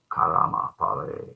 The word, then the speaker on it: karma: fruits of our karma in bengali they say karma not always but just to make it poetic you can add a syllable instead of karma karama karma the fruits of